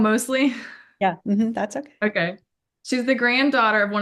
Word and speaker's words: Mosley: Mosley she's the grand I said it wrong Mosley yeah that's okay okay she's the granddaughter of